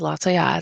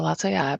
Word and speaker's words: Lataillade: My name is and my last name is Laya. So, Laya, but you can call me.